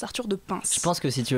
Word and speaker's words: Arthur de Pins: entendu prononcer son prénom ça se prononce arthur de pins s'il pense que si